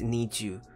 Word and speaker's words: NiziU: you will i'm sorry i'm always pronouncing them an easy way i know it's need you will be unveiled for